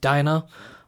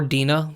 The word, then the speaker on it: Dinah: And in this chapter, it opens up with Dinah, or Dinah, depending on how you pronounce it. Dinah is a lot of times how it's said in the English language, but there is a belief that actually in the Hebrew it was probably pronounced Dinah. So either one you could use.